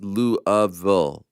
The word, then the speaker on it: Louisville: it was a great question okay number one Louisville is pronounced louville Lou of Ville by people who live in Kentucky two I couldn't attend UFC Louisville in 2011 because I was a broke junior